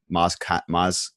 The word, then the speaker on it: Maz Kanata: Maz Kanata. Same with like Jeff Kanata. Spelled differently, but pronounced the same.